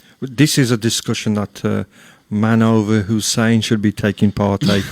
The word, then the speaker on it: Munawar: Yeah, man over. Munawar. So we put a really nice poster. 2 minutes later, Munawar messaged me. Fantastic poster, but you've spelt my name wrong. What? It's Manover, Manover.